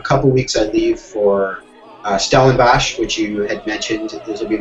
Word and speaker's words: Stellenbosch: I leave for Stellenbosch, which you had mentioned. This will be my third summer teaching there. I'm very excited. I love going to Stellenbosch for the wine and also for the teaching and percussion.